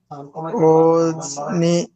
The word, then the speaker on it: ogni: স্টেল্লা, এখানে double L এর উচ্চারণ stella হবে। stella guida di ogni অজনিনা, এখানে আমি গত ক্লাসে কি বলেছিলাম, যে